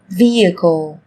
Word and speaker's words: vehicle: Trong tiếng Anh cũng có một số từ mà cách viết chúng ta thấy xuất hiện chữ cái h, nhưng khi phát âm thì chúng ta lại không cần phải phát âm âm này, người ta còn gọi là âm h câm.